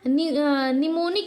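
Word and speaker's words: mnemonic: आपका B silent है अब पूछे आपका निमोनिक में आपका क्या साइलेंट है ये आपका नीचे देखिए एम वाले में यहां निमोनिक में आपका क्या साइलेंट था तो एम साइलेंट है साइकोलॉजी दे दे तो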